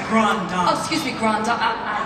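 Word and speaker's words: grande dame: Right, you got to say it right. It's Grand Dame.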